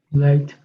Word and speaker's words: light: light, Light. And notice the GH doesn't make any sound because it is before a T, right?